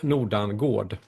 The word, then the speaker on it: Nordangård: Well, if you if you pronounce it in the right way in Swedish, you say Nordangård.